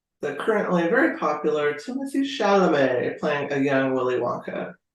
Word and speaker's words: Chalamet: Okay, how do I spell it? Chalomet. CHA. Lomet. Chalamet. And his Timothy has extra E's at the end.